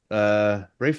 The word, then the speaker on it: Ralph: You see, the Harry Potter actor's first name isn't pronounced the way Ralph usually is. Rafe, in his case, is not pronounced.